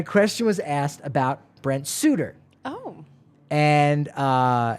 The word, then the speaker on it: Suter: was asked about Brent Suitor oh and uh his name was mispronounced as Sutter and then buddy you